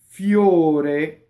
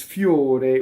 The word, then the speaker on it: fior: Fiore, it's a closed O, and the full word is fiore with an E at the end, right? And this one they cut it off for the poetry, so it rhymes. Fior, right? We tend to open in, especially Americans, tend to open before an R. Fior, no, fior, right?